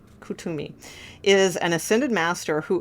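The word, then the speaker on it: Kuthumi: wisdom let me read cus cimi for you because I feel like that's important okay hold on Cami uh let's see oh pronounced C I'm sorry cumi Kumi is an ascended master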